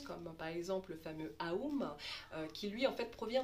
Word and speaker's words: Om: Donc le OM, on va dire ça comme ça, se prononce donc Aum, et quand on le